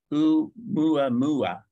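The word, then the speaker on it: ʻOumuamua: It's pronounced Oumuamua, which is a Hawaiian name referring to something as like a scout.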